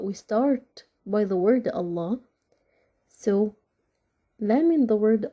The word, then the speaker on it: Allah: be for the word Allah is the last pronounced letter and it has Shada and Kasra right so the word Allah also is gonna be with a light lamp the second case if